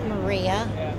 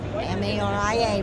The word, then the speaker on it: Maria: okay can uh you stank your name and spell it and tell us where you're from from please my name is Maria m a r i a Maria I'm from um the north side about